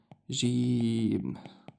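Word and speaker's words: جيم: And the first sound you hear when I say the the name gym, ja ja. Ja, ji, ju.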